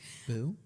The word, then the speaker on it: Bou: to uh Sushi by Bow I think it's pronounced boo boo Sushi by yeah you're right um which is an